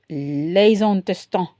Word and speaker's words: les intestins: So when fat, the liver, la foie, the intestines, les intestins. Excusez-moi, désolé. Testin. So it's not intestine, okay? Ayen is intestin. Les intestins. So you have to do the liaison avec S and I.